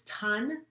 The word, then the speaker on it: TUN: our short name is ton the university network rhymes with fun we reach about 10